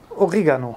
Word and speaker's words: Oregano: Oregano, also die Betonung liegt auf dem E.